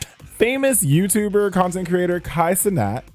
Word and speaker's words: Cenat: So on an Instagram with Nicki Minaj, famous YouTuber content creator Kai Cenat, it's pronounced Cenat, BK.